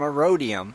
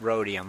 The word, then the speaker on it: rhodium: roam not ear oh I was thinking it's called a rhodium but it's just rhodium okay thank you thank